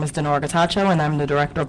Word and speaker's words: Getachew: And I'm sure you will clarify the pronunciation of your name. Morning. Good morning. It's Getachew.